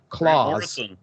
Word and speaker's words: Klaus: Mark Radulich and I talked about Klaus, but I think that's pronounced Claus.